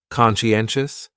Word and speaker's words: conscientious: So, conscientious has 4 syllables, and the stress is on that third syllable. N. Conscientious, conscientious. That second syllable is what really confuses people, because that sigh almost sounds like you're saying she.